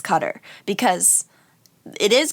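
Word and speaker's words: Qatar: cutter as opposed to guitar like they've been corrected and say like oh no it's cutter because it is correct in that you're now putting the emphasis on the correct syllable but but not the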